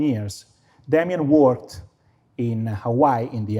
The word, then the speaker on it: Damien: The local people called the Kanakas, the Kanaki, couldn't pronounce his name, so they call him Kamiano because they couldn't pronounce the sound D, Damien.